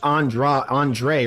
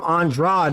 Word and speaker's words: Andrade: kind of weird that they pronounce it Andra Andre right yeah I keep call him andrad and then I hear them call him Andre I'm like that's is